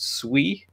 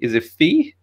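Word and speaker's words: Phii: think it turns out his name is pronounced swee but it's spelled p-h-i-i so i was like is it phi is it fee is it pi i don't know absolutely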